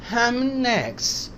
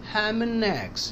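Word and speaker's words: ham and eggs: नून का साउंड हैमनेक्स हैमनेक्स ये कनेक्ट हो गया डी साइलेंट है तो ई इसके साथ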